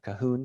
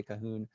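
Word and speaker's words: Cahun: cahoon and marcel moore really it should be in french pronunciation but most english speakers that i've encountered tend to pronounce it claude cahoon so i'll probably say cahoon myself today claude cahoon and marcel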